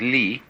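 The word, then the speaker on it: 理: is r r is a Chinese character pronounced by the Chinese Lee which almost all of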